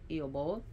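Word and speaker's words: Aoibheall: It's spelled totally different, but it's pronounced Iobol.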